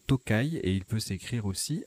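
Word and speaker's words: tokay: vin liquoreux de hongrie dans ce cas là il se prononce tokaï et il peut s'écrire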